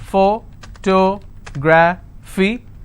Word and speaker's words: photography: Photography. So this is my ending. I will stress here. Photography.